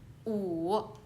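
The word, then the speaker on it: 五: So number five is wu, the third tone, wu.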